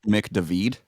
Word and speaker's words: McDavid: just right there probably it's actually pronounced mick david oh my yeah you that one up yeah he's he's irish david dude oh yeah okay